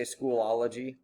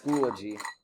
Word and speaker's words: Schoology: Like when people say schoolology. Yeah, it's schoology. School OG. That's it.